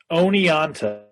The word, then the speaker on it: Oneonta: Andrew Pease, Director of Instrumental Music at Hartwick College in Oneonta, New York. Did I say that correctly? Oneonta. Oneonta, all right.